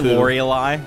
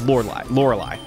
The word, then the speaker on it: Lorelei: Says like the champagne. I always say Lorelei because she's got the E in there, and I make fun of her name. But I say it so much that that's not how you pronounce it. It's Lorelei.